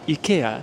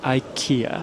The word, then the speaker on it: IKEA: of Stockholm in Japan we also pronounce it EA just like the sweds I don't understand why Americans pronounce it Ikea it makes no sense to me okay I'm guilty